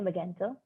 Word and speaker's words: Magento: heiming that does zepty use uh magento their pronounced actually magento uh magento you mean is the the platform